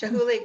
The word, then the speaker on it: Chihuly: you saw, there's a Chihui glass, that Dale Chihui, am I Oh. pronouncing Yeah. that right? Garden and That, Glass, Chihuly Garden oh, and Glass.